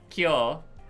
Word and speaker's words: Kyo: No, you keep pronouncing his name wrong every time and it's driving me crazy. Kyo.